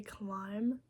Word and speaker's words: climb: Like when I say climb, it's just C L I M. The B is like left out.